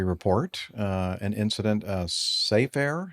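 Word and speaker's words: Safair: Uh, an incident of Safe Air, I guess that's the way you pronounce it. S A F A I R.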